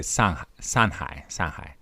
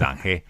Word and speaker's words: Shanghai: So in the Shanghainese accent, rather than saying Shanghai, they would say Sanhai. So or in Shanghainese Zhanghe.